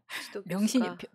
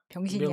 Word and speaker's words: 명신: 명신이 발음을 제대로 해주세요. 병신이 아니고.